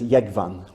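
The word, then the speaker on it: Jógvan: But in the Faroes it's Yegvan, okay, so there you go.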